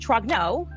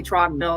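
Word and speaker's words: Trogneux: MK ultra program came into existence uh Breijgit Trogno made a name Trognau was born in Amian. So they say Trognau. Okay. So it's it's t r o g n u x they say trogno that's how she's pronounced it trogno.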